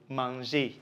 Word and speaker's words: manger: G before a, o, u is pronounced g. Okay, so G before the vowel a, o, and u is pronounced what? G. So you have ga, go, and g or gui. Okay, and G before e and I, so e and e is pronounced je. So you have je and j.